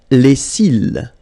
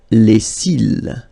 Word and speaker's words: les cils: Les cils. Les cils. Final S not pronounced. Les cils.